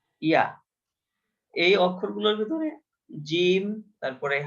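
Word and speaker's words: ج: বা তা হা জিম জিমের উচ্চারণটা স্বাভাবিকভাবে হয় না একটু জোর দিয়ে উচ্চারণ করতে হয় জিমের উপর একটু প্রেসার লাগে জিম এভাবে জিম তারপরে আছে হা খ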